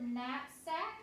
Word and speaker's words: knapsack: with the sound you're gonna see the word knapsack it's spelled with AK a hint for the Sam